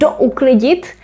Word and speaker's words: douklidit: Uklidit and douklidit. This is very interesting because actually there are 2 prefixes, as you can see, and we even pronounce it separately.